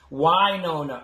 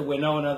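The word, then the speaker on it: Wynonna: focused on uh winona earth because and it's why nona er i'm sorry that's the way they they they want everyone to pronounce it it's why all right as opposed to winona the way that i've been pronouncing it uh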